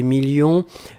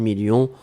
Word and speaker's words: millions: à la fin 2 millions on ne prononce pas le s mais il est là ensuite signature mais ici